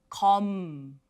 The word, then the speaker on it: 검: See, you see ko, And on the bottom, you can see the mium, which has the m sound. So, come. Same. Do not release the air. Keep it to yourself.